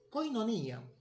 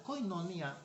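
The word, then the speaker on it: κοινωνία: algo está pasando allí koinonía en griego con vivían más o menos así es su pronunciación que significa comunión significa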